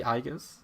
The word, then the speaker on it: iaguz: yeah I don't remember it's actually igas see I I still